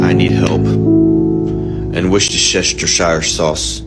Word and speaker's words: Worcestershire: And Worcestershire sauce. Worcestershire. Would be the right way to pronounce this word.